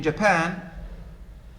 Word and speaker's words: Japan: the by syllabic words in china which level is stressed the first or second china the first in japan the second and so there is no window first hotel second and so in english